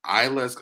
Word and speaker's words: Iyla: I think her name is Isla. It's spelled Iyla.